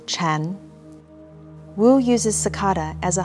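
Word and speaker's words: 禪: parent and child zen in mandarin chinese sakata and zen are both pronounced chan wu uses sakata as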